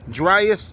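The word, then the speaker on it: Dryas: So if you want to look up younger dus impact theory, dryus is spelled dr r y a s.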